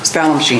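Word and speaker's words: Spallumcheen: I was asking for confirmation of the pronunciation. Spell machine. Spallum-Sheen.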